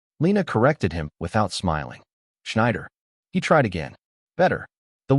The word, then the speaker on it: Schneider: She was helping Brooks pronounce a woman's name. "Schneider," she said softly. Brooks tried. S H N wider. Lena corrected him without smiling. Schneider.